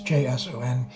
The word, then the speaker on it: JSON: I don't know how to pronounce that. JSON file. It's JSON.